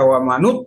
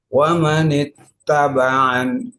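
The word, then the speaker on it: وَمَنِ اتَّبَعَ: Kalau dibaca wa manut berat, wa manat juga berat, tapi wa manit itu ringan. Maka kasroh wa manit tabaan, nah gitu, ya.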